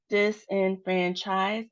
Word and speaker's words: disenfranchise: So, disenfranchise has four syllables, and we can see there's multiple points of emphasis, particularly on the and there's a low emphasis on the beginning and the last syllables.